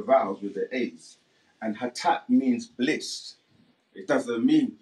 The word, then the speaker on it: Hotep: But again, if you take out the vowels, you'll have the root letters H, T, and P. And if you knew, you could still pronounce that without the vowels. But the people that introduced the vowels put the O and the E. So you get Hotep. But we say Hatap, which is still replacing